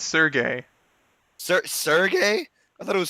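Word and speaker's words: Sergei: God, you had one job, Serges. Surges. I don't know how to say his. I don't know how to say his name. It's Sergey.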